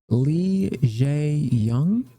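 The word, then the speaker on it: Lee Jae-myung: Quick little meeting and chit chat with looks like a South Korea President Lee Jae-young. That's how you pronounce his name.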